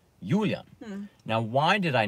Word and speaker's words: Julian: But my name, Julian, is actually pronounced in German because my mother is German. So she would want me to be called Julian, which is how the Germans pronounce Julian.